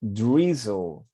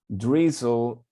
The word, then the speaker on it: drizzle: The Z sounds like Z and say zl. Drizzle.